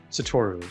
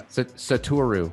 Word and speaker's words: Satoru: So I am super excited to be joined by Satoru. Did I say that correctly? Satoru, yeah. Satoru, sorry.